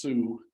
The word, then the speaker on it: SUE: Now those costs were based on the fact that there's a state law, which is pronounced SUE, Subsurface Utility Engineering, which requires a huge study